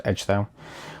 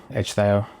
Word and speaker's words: Ecgðeow: I'm pretty sure it's Ecgðeow. When ECH together, it's more like an edge. And then Theo, Ecgðeow.